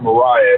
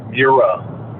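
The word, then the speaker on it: Мрія: Mariah but we don't it's not pronounced Mariah it's mira mira I think is I'm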